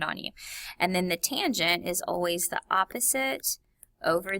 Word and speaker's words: tangent: tangent and of course it just looks like the word tan but it's tangent okay now these formulas